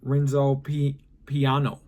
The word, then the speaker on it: Renzo Piano: Oh, Renzo Piano. Come on. So RENTSO sounds like Ren and SO. Piano, PYAHNO. See? PYAHNO.